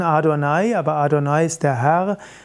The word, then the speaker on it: Adonai: Er wird abgekürzt mit JHVH, JHWH und ausgesprochen im Hebräischen Adonai.